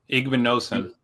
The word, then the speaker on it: Igbinosun: IGBIN Igbinosun.